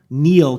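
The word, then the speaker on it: Kneale: looking like you have the Celtic yeah Nigel Neil, K N E A L E.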